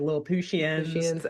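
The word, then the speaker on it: Lilliputtians: And he explains to the kids that they call themselves lians, which when it's spelled out, it looks like little Puttians basically, but they pronounce it like Lil Pushian.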